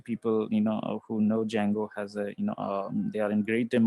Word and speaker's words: Django: or you know a django um the d is silent here actually so uh django these are the libraries